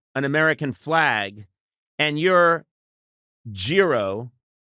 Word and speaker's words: gyro: American flag and you're giro. It's a euro. I mean, okay. You could pronounce it gyro like gyro.